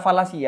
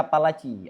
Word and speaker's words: falasi: Khata'ul fil burhan, logika falasi ya. Bukan logika palaci. Ada yang orang baru kenal logika falasi, bacanya logika palaci.